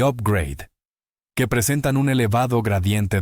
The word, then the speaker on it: upgrade: oímos a Rodrigo hablar del igrade que en realidad la pronunciación correcta es upgrade que significa ascender de